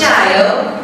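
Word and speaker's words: 加油: It's pronounced Jiao.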